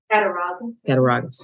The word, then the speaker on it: Cattaraugus: If anybody would like to correct my pronunciation. Cattaraugus.